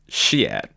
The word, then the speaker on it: Chiat: came from the MC who repeatedly mispronounced shi's name it's shiat oh shyat oh well